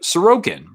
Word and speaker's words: Sorokin: You'll put the emphasis on the second syllable. So instead of Dadanov, it's Dodonov, or like Sorokin, for example, Ilya Sorokin, or Igor Shesterkin.